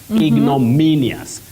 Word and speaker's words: ignominious: it Peter Walker ignominious ignominious the stress is on me ignominious then we have at